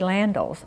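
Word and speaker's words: Landels: very favorites and reverend landel's is next am i pronouncing his name right orlando well we said landl's although i've heard it both ways he was like the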